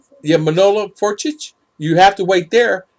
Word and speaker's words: Manolo Fortich: I can't even pronounce that name. Monlock Fortich. Yeah, Manolo Fortich.